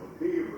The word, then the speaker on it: McIver: We pronounce it McIver in Georgia. Probably he pronounced it McIver.